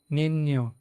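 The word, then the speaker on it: niño: निन्यो।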